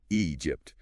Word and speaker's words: Egypt: Starts with a long E sound. Egypt. A common issue for Portuguese speakers is starting with an A sound, but it's E.